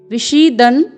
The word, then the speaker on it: विषीदन्: फिर है विषीदन् निदम ब्रवीत्, पूर्ण वर्ण व में ह्रस्व स्वर है, फिर पूर्ण मूर्धन्य श में दीर्घ स्वर है, फिर पूर्ण वर्ण द है, फिर अर्धवर्ण न है, फिर पूर्ण वर्ण न में ह्रस्व स्वर लगा हुआ है।